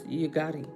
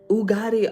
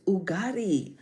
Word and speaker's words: Ugadi: This is how we pronounce the name Ugadi. Oh, ooh. Ugadi. Why was I saying you? Oh, it's Ugadi.